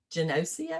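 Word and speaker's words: Geneseo: He obtained his bachelor's degree from the State University, New York at Genosia. Is that right? Did I pronounce it right?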